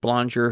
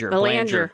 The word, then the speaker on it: Belanger: beyond that point was Jeff Ballinger, who actually, or Ballinger. Belanger. Yeah, Belanger. I'm sorry, Jeff. Belanger, with his... you could pick whatever. I'm sure he gets it mispronounced all the time.